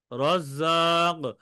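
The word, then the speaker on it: رَزَّاق: পারলাম কি কি হবে এটা মোটা হবে র তে জবর বা পেশ হলে র কি হবে মোটা হবে মোটা পোর করে পড়তে শুকরিয়া ভাইজান এরপর তামিম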